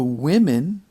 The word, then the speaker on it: women: Child to children, woman to women. Notice the pronunciation. Woman, women, man to men, person to people.